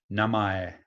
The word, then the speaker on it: namae: Namae. Namae. It's really close to the English, actually.